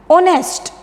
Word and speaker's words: honest: ऑनेस्ट, देखिए यहाँ पर H साइलेंट है, हमें इसे कैसे प्रोनाउंस करना है? ऑनेस्ट, right.